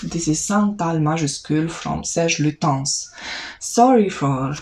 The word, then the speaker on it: Serge Lutens: This is Santal Majuscule from Serge Lutens. Sorry for mispronouncing the name in some of my videos. I was so confident that I'm saying it correctly, Serge Lutens, but actually it is Serge Lutens.